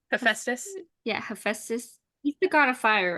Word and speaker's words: Hephaestus: Yeah, Hephaestus.